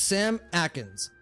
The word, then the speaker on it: Sam Atkins: full name if it's Samakin s kins maybe sama just let me know how you want me to pronounce it just so I get it right the first time it's Sam Atkins thank you very much